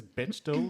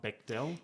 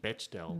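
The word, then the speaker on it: Bechdel: And we and we do have to confirm that it's Betchdoll, not Beckell. Yes. Yes. I have intelligence that suggests that this is actually how the the the woman herself pronounces her name. Betchdell. Betchdell. Betchdell. I think I've always pronounced it Beell, but I I'll strive to correct myself from now on.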